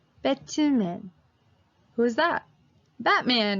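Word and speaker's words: 배트맨: three syllables right so we have to pronounce it like pick two men bet two men who's that Batman right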